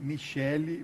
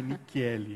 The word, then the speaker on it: Nichelli: É, tanto que eu falei Michele, mas não é Nichelli, né? Corrigi aqui a pronúncia.